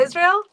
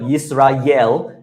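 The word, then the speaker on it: ישראל: In American accent, I have heard yisra yell and I'm like please don't yell at me. Okay. It's a yra. Israel.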